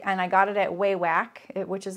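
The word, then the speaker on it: Wawak: And then the other thing I really like, and I got it at Waywack, which is like an online sewing supply place, and it's spelled W-A-W-A-K.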